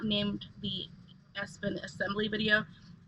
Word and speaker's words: Espin: So sometimes my pronunciation of words is different, but it's definitely Espin.